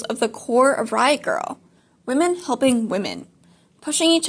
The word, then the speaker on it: Grrrl: And the reason it is spelled girl, Grrrl, is basically to accentuate like the growl that is very prevalent in Riot Grrrl.